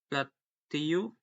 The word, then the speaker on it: plateau: Not a common, but also from the French, the word contains letter groups of EAU. This is announced pronounced as O, as the toe, when the U is